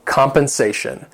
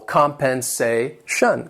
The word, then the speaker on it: compensation: Number 7, compensation. This word has 4 syllables and the stress is on that third syllable. Compensation.